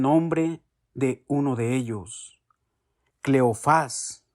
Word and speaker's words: Cleofás: de uno de ellos cleofás con acento en la ultima cleofás y por qué no